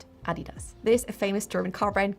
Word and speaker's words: Adidas: brothers Adolf and Rudolfph Adidas often gets mispronounced as Adidas but it's actually Adidas so the emphasis is at the A and Not.